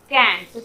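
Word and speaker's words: can't: CENT को हम लोग उच्चारण करते हैं सेंट, पर यदि हम लोग CANT, तब ये इसका साउंड क्या हो जाता है? कैंट।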